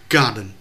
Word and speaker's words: garden: cái câu ấy, thì cấp độ về từ chúng ta phải biết là garden trọng âm rơi vào ga, chúng ta đọc là garden chứ chúng ta không đọc là garden, garden, garden.